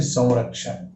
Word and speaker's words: संरक्षण: आप देखिए ये है संरक्षण, बिंदी हटा दो तो संरक्षण है, और बिंदी के साथ अगर केवल बिंदी का उच्चारण करें तो संरक्षण होगा, लेकिन इसको हम ऐसे नहीं बोलते, हम बोलते हैं संरक्षण, है ना। संरक्षण मतलब यहाँ पे भी व की आवाज कर रही है।